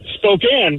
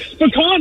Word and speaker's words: Spokane: the Native American names she wasn't trying to pronounce them and she saw Spokane on a sign and she's like oh spikane